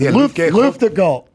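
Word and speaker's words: Luftgekühlt: How do you pronounce it? Luft Gul.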